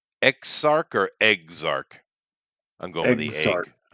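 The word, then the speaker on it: Eggzarch: all right I am I spell it e g g z-a-r-c-h ex-arc yeah that's pretty much what it is perfect uh all right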